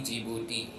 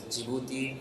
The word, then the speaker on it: Djibouti: like many of you even I used to call it the jouti so the pronunciation is jibuti and not Djibouti so that is the